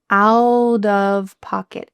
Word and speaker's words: out of pocket: Is it out of pocket? No, instead, this is another extremely common American pronunciation technique where a T between two vowels is going to change to a D sound.